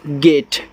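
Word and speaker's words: gate: GAT गेट, तो जी से गा, ए का उच्चारण ए की मात्रा, टी से टा, लास्ट वाले ई का उच्चारण नहीं हो रहा है स्टूडेंट।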